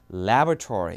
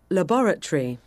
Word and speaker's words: laboratory: 실는 강세가 바뀌어요 그러니까 미국 영화에서는 사실 앞에 강세를 줘서 laboratory 이렇게 발음하는데 영국 호주 쪽 그니까